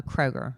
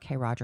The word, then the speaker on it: Kroger: See, I like our a Kroger. Krogers. It's not Krogers, honey. It's Kroger.